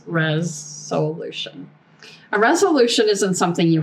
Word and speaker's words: ReSOULution: It's like resolution spelled with s o u l. So when I talk about a res solution, that's what it is. It's res solution.